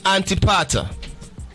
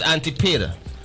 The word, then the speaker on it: Antipater: Now go to Antipater. Antipater is Antipater. Am I saying it right? Antipater. You got it.